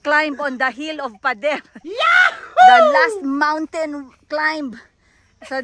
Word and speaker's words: Pader: We are in Pader District. Pero ang pagka-pronounce nila Padel kasi hindi nila ma-pronounce yung R.